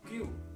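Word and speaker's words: 九: Kemudian angka 9 dalam bahasa Jepang itu kyu. Kyu atau ku, ya, seperti angka 4,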